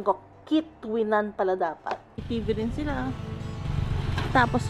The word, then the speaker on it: Quituinan: sorry all this time Mal Pala Yung ano pronunciation KO kitan Pala Sila tapos N na tables picnic table